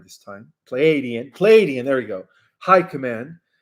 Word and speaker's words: Pleiadian: And included in that is the Andromedan Council, the Pleiadian, I think I said it right this time, Pleiadian, there we go, High Command, that have long been monitoring the Earth's situation, okay?